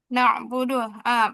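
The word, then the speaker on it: نعبد: Ee aim aim as bil alif nabudu mirip ngikutin alif. Nabudu harusnya nabudu. Jadi kesalahan pertama ain itu dimiripin sama Hamzah. Ya ini nabudu hati-hati ya.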